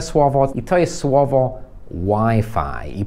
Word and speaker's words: Wi-Fi: i to jest słowo wi-fi i prawdopodobnie już wiedziałeś że to się mówi WiFi jakbyś rozmawiał z nativem z angielskiego albo może nawet ktoś z innego kraju i byś powiedział wi-fi A to myślę żeby